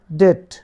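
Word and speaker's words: debt: যার অর্থ হচ্ছে সরাসরি ডেট ডিইবিটি এখানে ডেপ হওয়ার কথা কিন্তু বির উচ্চারণ এখানে সাইলেন্ট থাকবে তাহলে এইটির অর্থ হয় ডেট ডেট হচ্ছে ঋণ মত মথ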